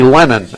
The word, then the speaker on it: Lenon: their first baseman Brody Lennon l n o n but pronounced just like John lenon or the lenon sisters probably don't know who